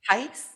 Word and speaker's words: HICE: Do I pronounce it HICE? HICE, yeah.